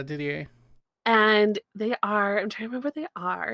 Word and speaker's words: Didier: from Samwise some ways Didier is that how you say it yeah Didier and they are are